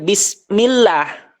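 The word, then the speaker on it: بسم الله: ini di sini B Harusnya kan bismillah tapi kita bacanya mimnya ini harusnya dibaca kasrah malah dibaca domah gaya-gayaan kita misalkan bismullahirahmanir atau Bismillahirahmanirahim Nah ini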